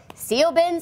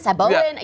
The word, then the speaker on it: Siobhan: So if nothing else, we've helped all the Siobhans, because people, Siobhan, Saboin, you can see how many times they tried to get us to change that name.